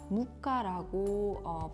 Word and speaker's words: moka: 우리가 흔히 부르는 모카포트, 여기서 모카는 모카라고 합니다. 또한 해외에서는 모카뿐만 아니라 무카라고 발음을 한다고 합니다.